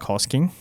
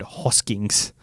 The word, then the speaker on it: Hosking: about Zach Hosking, and he kept saying the word Hoskings. Zach Hoskings, yep. And this just made me think of pronunciations in rugby league that annoy you, and I've got a whole list of things. Hoskings is number one.